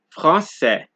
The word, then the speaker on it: français: So, this is a C with a cedilla, right? Which is pronounced like S. And you get this in words such as français, leçon, garçon, français, leçon, garçon.